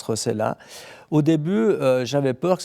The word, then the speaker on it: Rossellat: C'est vrai que mon nom s'écrit avec 2 L et se prononce Rossella.